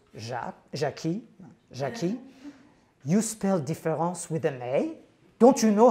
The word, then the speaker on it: différance: favorite example is one when difference which shouldn't be pronounced differently but nonetheless is when